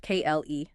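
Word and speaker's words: Klee: Which leads us, I think, to Paul Cle, pronounced Kle, one of the great thinkers, theorists of this time.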